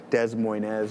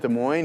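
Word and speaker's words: Des Moines: It's like I don't know how to pronounce it correctly. It's like Dez Moines or whatever is I think it's in Oh, in Chicago. Yeah. De Mo. Is it De Moines?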